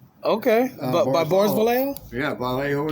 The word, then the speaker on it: Vallejo: Ballejo is pronounced.